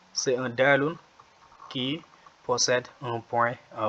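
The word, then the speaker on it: دال: Après le jimun, nous avons le dalun. Le dalun, c'est l'équivalent du D en français, de la consonne D ou bien de la lettre D.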